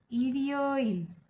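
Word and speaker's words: 일요일: And Sunday को कहेंगे इरियो इल, इरियो इल, इरियो इल, इरियो इल।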